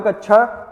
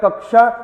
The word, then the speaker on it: कक्षा: लिखा है मेरे भाई यह जो कक्षा है आप जानते हो क पूरा है और यह अक्षा संयुक्त व्यंजन है और यह जो है